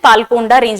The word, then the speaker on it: पालकोंडा: इसको इंग्लिश में नल्लामलाई रेंज बोलेंगे एंड पालकोंडा रेंज बोलेंगे, बट the true way टू से these words are Nallamalai रेंज एंड पालकोंडा रेंज।